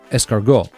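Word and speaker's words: S-Cargo: spelled as - cargo pronounced escargot like snail in French there was also the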